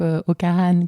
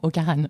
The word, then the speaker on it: Ho Karan: R a n donc okaran qui est la prononciation française après la prononciation bretonne c'est okaran qui j'essaie de te la faire bien parce que on se fait reprendre sur les réseaux sociaux de temps en temps la la culture bretonne étant extrêmement forte d'accord je reçois parfois des vidéos de de personnes qui parlent br qui m'explique comment bien prononcer donc voilà je je te l'ai fait à la bretonne mais bon ocarane entre